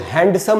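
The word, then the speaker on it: handsome: उसके बाद दोस्तों हैंडसम, हम बोलते हैं ना बड़ा हैंडसम आदमी है, क्या खूबसूरत आदमी है, तो इसको भी दोस्तों हैंडसम नहीं बोल सकते क्योंकि इसमें डी साइलेंट होता है।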